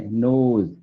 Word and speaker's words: knows: KNOW बोला है हमने, नोज। पहली बात तो के आता है स्टार्ट में, के को पढ़ते नहीं है, ऐसी अजीब चीजें इंग्लिश में मिलेंगी।